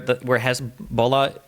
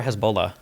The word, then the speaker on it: Hezbollah: Is there any world where Hezbollah, also, is it Hezbollah or Hezbollah? Hezbollah. Hezbollah. Is there any world where there's a few different ways you can pronounce it.